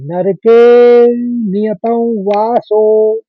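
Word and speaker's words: नरके नियतवासो: वासो तो उच्चारण देखिए व का अनुस्वार है क्योंकि वासो दूसरा शब्द है और अवग्रह है एक तो नर के ज्यादा खींचना पड़ेगा तो पहले तीसरे चरण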